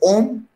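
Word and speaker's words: homme: Homelet is made up of two words: home, H-O-M-M-E, H-O-M-M-E, home, which is pronounced as om.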